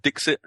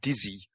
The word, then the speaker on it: Dixit: playing for ages called Dixit all right well it's a French game so I think it should be pronounced dizzy Wright good shopping is